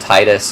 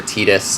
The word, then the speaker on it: Titus: A lot has been said about Titus, or Titus. I think Titus, that's how you pronounce his name.